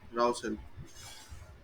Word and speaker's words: Rouse Hill: Is it Ruse Hill or how do you pronounce Rouse. Rouse Hill? Yep.